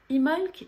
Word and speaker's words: Imbolc: de ce sabbat dimofte d'ailleurs on l'écrit immelt mais on ne prononce pas le b ce sabbat il est entre le solstice d'hiver l'ul et l'équinoxe de printemps ostara imholz est une fête de